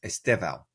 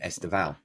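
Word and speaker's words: Estêvão: really sort of picky, it's Esteval rather than Esteval. Well, you teach us because you're the Portuguese expert. Well, when there's no accent over the words and there's three syllables, you go with the second one.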